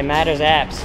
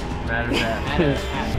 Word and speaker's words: Madars Apse: mad respect for that how do you say your name mothers properly and last name mothers so all the Americans I say matters apps matters apps where the hell is